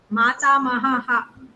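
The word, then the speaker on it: मातामहः: Mahaha, you have to read it as Pita Mahaha, Mata Mahaha. Okay, Visarga.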